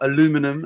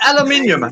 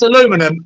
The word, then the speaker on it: aluminium: Aluminium foil or aluminum, as the Americans say, on a TV. Yeah, exactly. Right. It's aluminium. It's aluminum is fucking nonsense.